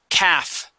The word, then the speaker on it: calf: the word Cavs okay the L is going to be silent we do not pronounce that L it's like the word